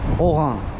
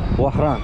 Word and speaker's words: وهران: آنها نتوانستند آنرا تلفظ کنند و فرانسوی ها این شهر را اوران نامیدند. فرانسوی چگونه. اوگان. بله. وهران. وهران. این طوری گفته میشود.